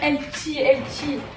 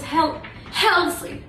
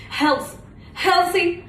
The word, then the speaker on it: healthy: Ouais, poupée, t'arrêtes de dire LT, ça se prononce healthy.